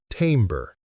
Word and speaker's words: timbre: Timbre is pronounced timbre.